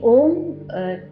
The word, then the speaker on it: ओम: भी ओम 3 साउंड के कॉम्बिनेशन से बना है, अ, उ और म।